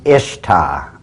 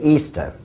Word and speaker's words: Ishtar: Now, a lot of people think it's pronounced Ishtar, I-S-H-T-A-R. People check the Babylonian Talmud. Once again, it is properly pronounced to this very day, Easter.